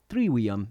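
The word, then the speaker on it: trivium: known as a triv or triwium in more proper Latin. The word trivia is actually the plural of triv. In Latin, the letter V was pronounced with the W sound, hence that difference in pronunciation.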